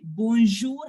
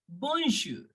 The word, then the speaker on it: bonjour: boom people remember that we will not pronounce the N completely I am not me not pronouncing it as bon no I am just making a partial sound of n why so I'll tell